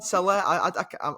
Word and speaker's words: Saleh: Salah. I'm from Yorkshire, mate. I've got no chance of pronouncing that.